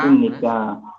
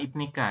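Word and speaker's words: 입니까: One Nara Saram imnika. Saram imnika. Nara imnika. Imnika bukan ibnika ya. Ini dibacanya im.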